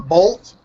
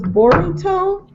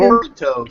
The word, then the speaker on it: Boruto: And the pronunciation of his son, they call him Bolt in one, but they call him Bolt.